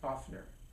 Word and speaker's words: OFNR: So that's the NVC statement in its four steps and and the the first letter of each of the step is of FNR which we NVC people pronounce offner.